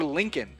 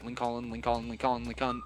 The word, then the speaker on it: Lincoln: And then I realized you say Lincoln. Oh, Lincoln. You say it fast enough, you just lose some of the harder things or the more adjective expressive, like tongue-moving things in a word.